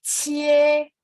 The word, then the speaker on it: 切: Ibu boleh ikutin saya, QIE bacanya cie. 切 Oke ya, ini nggak bulat. Jadi QIE itu biasa aja. Cie, yang penting Q bacanya CH.